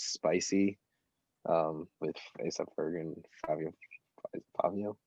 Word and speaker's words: Fivio: I think my favorite so far is Spicy, with A$AP Ferg and Fabio. Fabio? I keep hearing people say Fabio, but it's spelled like Fivio.